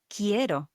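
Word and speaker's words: quiero: Another example of this is the word ko. Ko, which means to want something, like I want something. This is spelled Q U I E R O Ko. It's like as it was written with K, but it's not.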